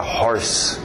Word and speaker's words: hoarse: Curiosamente usa horse, só uma dica extra, outra escrita, mas a mesma pronúncia, horse para rouco. Quem está rouco está hoarse.